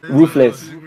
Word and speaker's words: Ruffles: Do you know how they pronounce Russell in Spanish? Roofless. Yeah, roofless.